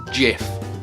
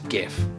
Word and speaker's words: GIF: both ways even if the developer of the format decided it should have a soft G the widespread use of